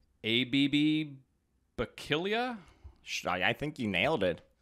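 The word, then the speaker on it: Abebe Bikila: no idea how to say this guy's name ABB but killya I think you nailed it okay I did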